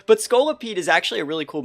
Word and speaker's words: Scolipede: So pulling up Pokemon Showdown right here, we're going to pull up Scolipede, and I think I used to be pronouncing it Scoliopede. It's not like it has scoliosis, right? But Scolipede is actually a really cool mon.